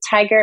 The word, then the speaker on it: Tigar: to the tiger agency tiger is spelled with an A but pronounced like the animal so t i g